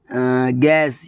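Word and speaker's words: guess: जब जी के बाद यू आता है तो यू साइलेंट होता है। जैसे गाइडेंस ठीक गेस यानी अनुमान लगाना।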